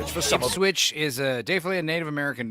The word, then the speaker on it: Ipswich: I was very wrong when I just said that Ipswich is clearly a Native American name. It's pronounced Ipswich.